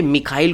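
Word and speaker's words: Mikhail: मिखाइल गोर्बचेव या Michelle गोर्बचेव, जैसा भी आपका प्रोनाउंसिएशन है।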